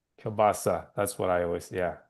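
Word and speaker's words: kielbasa: And let's like let's get to it because my grandfather would always say Kilbasi and you're saying Kbasa.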